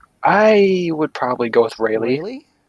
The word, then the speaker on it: Rayleigh: I was like, I was like, did you just mispronounce Riley? No, So before this podcast started, I think, or I don't know, like around the time this podcast started, we were talking about mispronunciations, and I'm like, is this another word that he's mispronouncing? Like, it's Riley. no, No, no, but yeah, I know no.